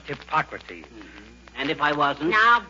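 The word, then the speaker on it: Hippocrates: McGee hello McGee hi hypocrates if you are referring to the father of medicine McGee it's pronounced hypocrates and if I wasn't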